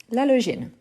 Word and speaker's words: halogène: Super, donc c'est un L muet, l'halogène.